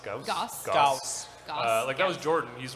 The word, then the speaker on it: Gauss: Like the how do you pronounce it? What's the next one coming up? Gauss. Gauss.